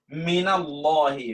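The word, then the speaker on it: مِنَ اللّٰهِ: মিনাল্লাহি, মিনাল্লাহি। এই আলিফকে আপনি উচ্চারণ করছেন? আলিফ উচ্চারণ করছেন না, মিনাল্লাহি, আলিফ কিন্তু পড়ে গিয়েছে। ওয়াসল মিলিয়ে যখন পড়ছেন তখন আলিফ পড়ে গেল।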